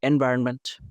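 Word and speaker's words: environment: তো এটা হচ্ছে এটা এনভায়রনমেন্ট। ওকে, তারপর এটা শুনেছেন, তো আপনি মনে করেন যে এটা লিখে বলছেন, তো হবে না, এনভায়রনমেন্ট, আরো এন হবে, আরো এম না, এনভায়রনমেন্ট এনটা তো আপনার হচ্ছে সাইলেন্ট থাকছে।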